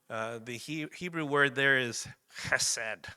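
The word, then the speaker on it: חסד: And this is one of my favorite Hebrew words Y esta es una de mis palabras hebreas preferidas, because you have to say it like this, chesed.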